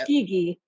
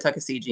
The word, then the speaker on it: Tuskegee: Tuskegee. Sorry, I definitely said Tuckasegee.